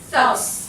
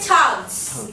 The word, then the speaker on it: thugs: Short U, thugs. And I'm hearing tugs.